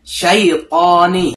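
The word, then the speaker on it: الشيطان: Nah, ini huruf syin yang ada titik tiganya di atas ya. Bentuknya seperti huruf sa tapi ini ada titik tiganya. Dia bacanya lebih banyak keluar nafasnya minas. Kalau huruf sin kan dia desis aja enggak terlalu banyak keluar nafasnya. Sa kalau syin dia lebih banyak lebih menyebar nafasnya. Kalau dalam bahasa Indonesia tuh seperti huruf S digabung sama Y.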